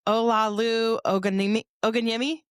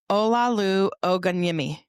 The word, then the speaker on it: Olaolu Ogunyemi: I'm here with Olaolu Ogunyemi.